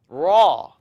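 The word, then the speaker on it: ر: not do this raw don't use your lips to pronounce raw raw now a lot of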